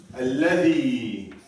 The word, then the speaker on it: الذي: So the third one he talked about al-ism al-mawsul, the relative pronoun, which الذي. الذي. الذي. الذي. الذي. Exactly. I need to hear the ذال coming out of your teeth like that.